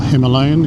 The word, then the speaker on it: Himalayan: That's Alan on his 411 Himalayan, or Himalayan if you want to pronounce it that way.